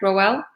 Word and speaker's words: Rowell: welcome you're welcome now am i pronouncing your name correct rowell yeah that's right okay awesome so um